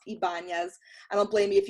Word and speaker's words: Ybanez: strategist for network marketers my last name's crazy it's pronounced ibanez i don't blame you